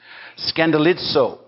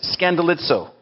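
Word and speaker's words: σκανδαλίζω: it's this greek word right here and it's pronounced scandalizo i don't know how you pronounce it by looking at that that way but that's what it says scandalizo which is the word we get in in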